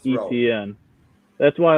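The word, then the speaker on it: Etienne: he the rookie travis how do you pronounce his last name etn just like the letters etn okay okay we've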